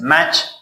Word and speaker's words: match: The next one is match. Match means مسابقه. Ya kibrit, it has two meanings. So T is also silent.